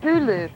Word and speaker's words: Hulu: launching their youtube killer called hulu that rhymes with zulu right now there's just